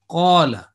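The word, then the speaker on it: قال: So in here, alif will be a 2 second pronunciation rule will be applied. Two second prolongation or elongation will rule this. The rule will be applied. So it will be qala.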